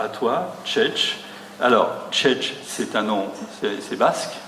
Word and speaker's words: Txetx: Mais tu m'as dit, ça se prononce comme comme ça s'éternue, voilà, donc je vais éternuer, Tchetch.